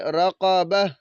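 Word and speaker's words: رقبة: وقف کریں گے تو اس تا کو ہم نے ساکن کر دینا ہے، یہ ہا بن جائے گی، پھر اس کو پڑھیں گے رقبہ، رقبہ۔ اب اس کے ہم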